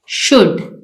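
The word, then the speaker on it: should: इसमें W silent है शुड इसमें एल साइलेंट है यहां पर हमारा साइलेंट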